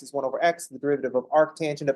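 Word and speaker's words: arcus tangens: but with arc tangent you can pronounce that as arc tangent GNA put a pronunciation got underneath just say Arc and then tangent don't say Arc tan because now you're just reading the abev I mean we don't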